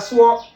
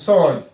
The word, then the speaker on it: sword: But then when we grew up and saw that there was a W there, we started calling it sword. Sword. Maybe we have sword, but then it's not actually sword. It is sword.